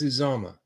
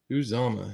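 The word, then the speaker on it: Uzomah: I believe it's Uzama. I think that's how you say it.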